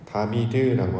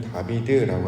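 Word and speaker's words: דָּוִד: 발음은 다비드라고 하는 것이 이해하는 데 더 도움이 됩니다. 무슨 뜻이냐면, 하나님께서는 하나님의 합한 모양을 이 다비드라고 하는 인물을 통해서 보여주셨기 때문입니다.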